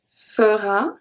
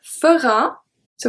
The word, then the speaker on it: feras: Then we have fera, so we have tu feras, il fera, elle fera, on fera. The S at tu feras is not pronounced.